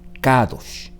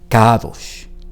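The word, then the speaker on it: קדוש: Y la palabra aquí leída en hebreo es la que usted ve en su pantalla: Kadosh. Esto es Kadosh, Kadosh, Kadosh. Es lo que se está pronunciando en un acto de adoración en este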